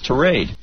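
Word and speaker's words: tirade: trade yes thank you it rhymes with parade it's not Ty it's trade well we obviously got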